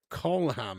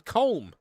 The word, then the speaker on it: Colm: Colam it's pronounced. Are you me? His name's pronounced colam. Colam. Colam. Colam. Meanie. Are you taking a piss? I always thought it was Colm.